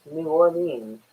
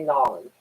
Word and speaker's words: New Orleans: I actually do pronounce it New Orleans or New Orleans because it's from Orleans in France, so it's New Orleans. But people down there will say Nolans.